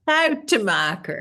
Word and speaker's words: Schoutemaker: And your name is impossible for an English person to even guess how it could be pronounced. Yes. Schoutemaker.